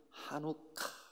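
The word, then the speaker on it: חנוכה: 때 그것을 봉 헌 히브리 말로 는 하누카 이렇게 발음합니다 1호 카 한번 해보실래요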